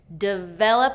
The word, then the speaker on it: develop: Develop is 2nd syllable stress. Develop. Okay? And that first syllable is reduced to that short I.